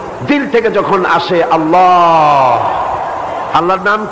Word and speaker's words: আল্লাহ: এই জন্য দিল থেকে যখন আসে আল্লাহ, আল্লাহর নাম কি? আল্লাহ। আল্লাহ না, কিন্তু মুখটা গোল করে উচ্চারণ করতে হবে সুন্দর করে, আল্লাহ।